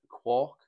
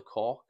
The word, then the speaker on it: Quark: Now, I've got a head torch here, which is winter specific, but this is the Quark, or the Cork, depending how you pronounce it, from Alpkit.